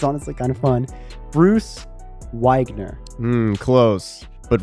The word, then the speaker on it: Wiegner: Bruce Wiegner. Close, but wrong. Okay. All right, I'm out. That was it. Nah, I had one chance. It's so I think it should be technically Wiegner because it's German.